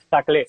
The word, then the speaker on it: Saclay: No sé cómo se pronuncia Saclay, Saclay, Saclay. No sé cómo se pronuncia, tú lo En sabes francés, mejor. saclé. Saclay, ¿no?